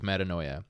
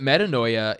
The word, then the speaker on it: metanoia: metanoia is that's why metanoia repentance is that's the Greek word for repentance and I like to use it because it rhymes with paranoia so but metanoia is just this this